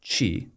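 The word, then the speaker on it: qi: Um I want to go deeper into some of these other pillars, like chi, uh which is spelled Q I for people listening.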